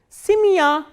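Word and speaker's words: семья: The same way, when ye is in unstressed position, it is pronounced as e, like in simia, simia. As you can see, this ya is stressed and ye is unstressed. That is why the pronunciation of this ye is e, not ye.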